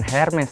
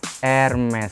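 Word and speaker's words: Hermès: Kalau misalnya karena ini brand dari Prancis ya, biasanya hanya tuh rada-rada hilang gitu, Ca. Jadi bukan Hermes tapi Hermes. Terus R-nya juga nggak usah kencang-kencang banget, jadi kayak Hermes.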